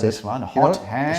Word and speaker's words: Hotham: 'cause Hotham this is- Street. Nothing you want to say about Hotham? Well, my daughter once I know pronounced this it. one, You know, Hotham. She pronounced it hot ham, Gary, and there's you